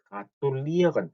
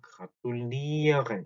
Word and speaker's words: gratulieren: gratulieren 발음이 조금 어렵죠. gratulieren. 자, 이렇게 ieren 하고 끝나는 것들은 뒤에 강세가 하죠. gratulieren 이렇게.